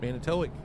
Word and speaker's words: Manitowoc: Can you remember how I pronounce it, where Jason's from? Manitowoc.